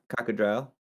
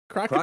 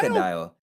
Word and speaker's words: crocodile: cat, a Bulbasaur, fire cocodrile. Cocodrile? How do you say it in English? Am I saying that crocodile, right? crocodile. Crocodile. The Spanish word is cocodrilo, so I was like, hey, forgive me there.